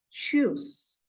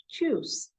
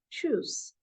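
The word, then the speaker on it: tschüs: similar to English then for by it is shoes okay it is choose t s c h u s but U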